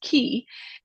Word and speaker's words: Ki: off more but in ja Japanese it is key uh and to me that's personal because I